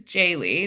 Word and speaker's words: Jaely: It is Jaely. That's how you pronounce it.